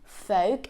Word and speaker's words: folk: Palm fake and wood I'm not pronouncing the L in them it's not half it's not Palm it's not Funk it's not wood it's half Palm folk and wood so that